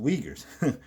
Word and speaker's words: Uyghurs: well it says yeah uyghurs i know that's pronounced u-i-g yeah um h-u-r-s but yeah it's pronounced uyghurs weird you know but to